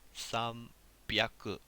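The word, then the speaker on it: 三百: Alright, listen to that pronunciation there. 300. We get a B sound here.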